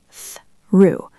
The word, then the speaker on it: through: The word through can be tricky. It has that th sound at the start. Tongue between your teeth. Threw. Try to make it one smooth sound.